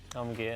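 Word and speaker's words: Karmann Ghia: Carmen Gear. There you go, well done. Well pronounced.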